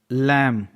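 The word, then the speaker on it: lamb: है एम के बाद बी है इसलिए बी साइलेंट है दम मतलब होता है Ganga लैंप एल ए एम बी एम के बाद बी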